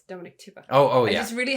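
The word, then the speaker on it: Dominique Tipper: I just realized her name is Dominic Tipper and not Ripper. I'm so sorry. It's Dominic Tipper.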